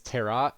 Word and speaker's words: tarot: magic tarot cards and yes the actual pronunciation is Terra thank you I don't